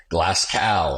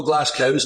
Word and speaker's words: Glasgow: But in America, they call it Glasgow. And you're from Glasgow? There's no Glasgows, mate. It's Glasgow. Ready, steady, go. Say it right.